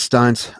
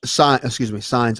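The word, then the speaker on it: Sines: I think it's Steins. I apologize again if I'm wrong, because I definitely don't want to shut the guy out and then get his name wrong. No. You're just emotional. Yep. Signs, S-I-N-E-S. Okay.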